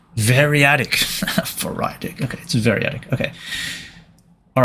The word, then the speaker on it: variadic: How do you pronounce it? Variadic. Variadic. Variadic. Variadic. Variadic. Okay, it's variadic.